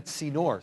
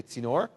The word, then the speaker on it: tzinor: And he says the first person to ascend the Tzinor, say Tzinor, he will be given this reward.